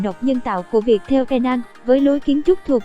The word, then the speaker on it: Penang: Riêng với Penang, các bạn đọc là Penang với âm P phát âm mạnh nhé.